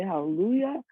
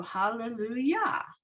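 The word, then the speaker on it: הללויה: syllables break out right so the first syllable is the just the hay ha the second syllable is just the llamad with the schwa the third syllable is the lamid with the u vowel and the last syllable is the yud and the hay but the unit has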